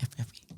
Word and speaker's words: FFI: Oh ngomongnya Fevi. FFI. Bukan Fevi.